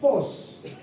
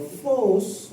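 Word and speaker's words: φῶς: Ya, kata terang menggunakan kata pos atau phos untuk pelafalan pengucapan dalam bahasa Yunaninya.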